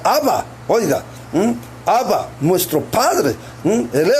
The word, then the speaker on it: Abba: es nuestro padre celestial que en hebreo se pronuncia Abba Oiga Abba nuestro padre